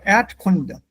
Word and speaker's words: Erdkunde: Wenn das R nach einem Vokal steht oder hinter einem Vokal steht, wird das vokalisiert. When the R follows a vowel, the R, the sound R is vowelized. It becomes part of the vowel. So the R, Erd is not pronounced. Instead, it becomes Erdkunde, Erd. So Erdkunde. Don't pronounce the R sound.